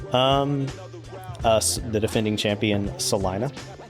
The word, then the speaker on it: Salina: Um, us defending champion, Salina. Okay. Not Selena.